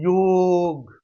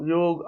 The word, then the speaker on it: योग: को रामा लिखते हैं योग बोलो आप योग आनंद आता है जुड़ना जुड़ाव योग शब्द के उच्चारण से जुड़ा महसूस होता है उसको अंग्रेजी में डोगा योगा योगा से कोई अर्थ नहीं